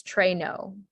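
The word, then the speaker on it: traîneau: sled or a sleigh pronunciation is trey no okay great um yeah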